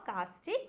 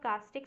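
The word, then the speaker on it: caustic: अभी देखो सारे बच्चे कास्टिक सोडा की स्पेलिंग गलत लिख के आते हैं, क्योंकि प्रोनाउंसिएशन में है ना यू आ ही नहीं रहा है एक तरीके से, तो भाई देख लेना CAU होता है ना, कास्टिक सोडा में यू भी आता है, ठीक है।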